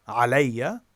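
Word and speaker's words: عَلَيَّ: There's another example like alayya, which is three syllables. The first syllable being a, then lay, then ya. Alayya.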